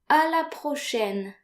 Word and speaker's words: à la prochaine: So note here that A and I are pronounced like AI in the English word said.